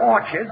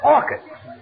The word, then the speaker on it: orchids: and bought her some orchards it's not orchards it's orchids the ch is pronounced like hey oh what movie did you